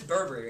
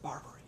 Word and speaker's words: Barbary: it nine times yet well but it's this burberry right here bart barber it's pronounced barbary i'm pretty sure it's burberry barberry burberry's an